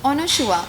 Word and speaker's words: Anasua: तो करण जौहर ने बोला था कि Anushua. आई was like, sir, oh my god, how are you taking my name so properly, because that is my pronunciation.